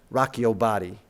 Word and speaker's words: Rock Your Body: rock your body and if we're pronouncing it with the correct diction and inflection that Justin Timberlake adopts we should say Rocko body a little bit different